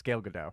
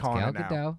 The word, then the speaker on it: Gal Gadot: I took French. It's Gal Gadot. All right, it's Gal Gadot.